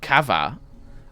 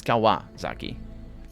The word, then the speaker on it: Kawasaki: not written like that it's kawa not kava i pronounce it kawasaki as well in portuguese but uh it's it's kawa zaki w it's for four